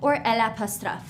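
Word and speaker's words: eau: Same thing for O. Okay. Water. O. Here's how we spell it. E A U.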